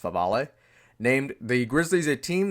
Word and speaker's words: Favale: Bleacher Report's Dan Favale, almost looks like Favre, but I think it's pronounced Favale, named the Grizzlies a team that could make a surprise push for the Bucks' two-time MVP.